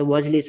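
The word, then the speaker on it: واجلس: আমরা যে আলিফটা আছে, আলিফটা পড়ায় আসে না। এখন আমরা ইজলিসের সময় পড়লাম। কথা হলো, এটার আগে এটা দিয়ে যদি বাক্যটা শুরু হয়, তখন এটা উচ্চারণ আসে, কিন্তু এটার পূর্বে যদি কোনো কিছু আসে, যেমন ওয়াও আসলে ওয়াজলিস হয়ে যায়।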